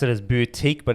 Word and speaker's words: BeoutQ: gonna pronounce it as boutique but it's spelt that beö utq so I'm guessing it's boutique or be out Q whatever you want to call it now they've been heavily